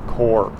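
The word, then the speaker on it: CURP: you know here we we pronounce it curb you and I but Mexicans I think pronounce it more like core okay let's see how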